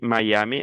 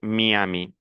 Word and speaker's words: Miami: En espagnol, on dit Miami, en français, on dit Miami.